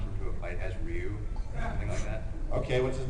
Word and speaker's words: Ryu: hired me and they told me how it's pronounced it's ryu and padokin i'm just doing what they tell